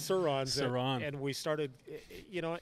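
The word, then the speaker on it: Sur-Ron: looks like the motorcycle electric motorcycles okay the saurons sirons exactly so um so Sauron like uh Middle Earth yeah yeah so I pronounce it wrong so they're called sirons and we started you know and we ride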